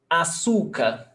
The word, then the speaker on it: açúcar: Example, açúcar. Açúcar, the stressed syllable is before last.